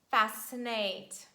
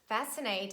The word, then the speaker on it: fascinate: is impossible that's why we just omit letter c and we pronounce only letter s as the sound si and we say scissors science scene scenario descent fascinate fascinate it means to attract